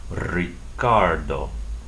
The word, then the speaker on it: Ricardo: say be be um the initial R is a consonant in Spanish would have to be rolled like this the word for delicious or rich in Spanish ISO uh the man's name Ricardo so see how the letter r at the beginning of a word sounds differently than a